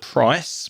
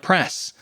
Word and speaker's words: price: And similarly, you might also confuse the word price, P R I C E, with the I sound, the I dip thong, price. And you might pronounce it like press, making it shorter, or press, making it longer and not correct.